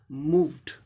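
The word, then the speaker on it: moved: अब यहाँ देखिए, मूव हो गया, एम का म हो गया, ओ का ऊ, लॉन्ग ऊ साउंड, और वी का व साउंड हो गया, मूव। आई व साउंड वॉइस्ड है, इसीलिए इसका inflection past participle inflection ED का उच्चारण क्या हो जाएगा, ड हो जाएगा, मूव्ड, मूव्ड।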